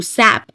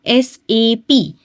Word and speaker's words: SAP: सैप सैप नहीं होता। यह क्या होता है? एसएपी system application and product in data processing particular saa डॉटp इस तरह से ये प्रोनाउंस किया जाता है।